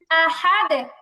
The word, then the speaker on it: أحد: قل هو الله أحد আহাদ আহাদ হামজার উচ্চারণটা মরা মরা হবে না একদম সতেজ হবে আহাদ أحد أحد কুল হুয়াল্লাহু